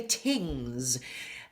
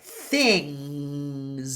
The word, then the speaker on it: things: Sometimes I'll hear students say tings th. Put the tongue between your teeth and lots of air. Things. And there's that ng sound.